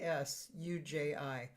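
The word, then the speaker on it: Tsuji: Suji is spelled S uh T S U Ji. Suji. And he um well, he he's a percussionist and he plays guitar.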